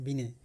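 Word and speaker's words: Binet: নেক্সটে হচ্ছে 19008 আলফ্রেড বিনেটির সাথে আরেকজন বিনে একচুয়াল প্রোনাউন্সিয়েশন আলফ্রেড আলফ্রেড বিনে এমন ভাবে ধরা হয় আলফ্রেড বিনের সাথে আরেকজন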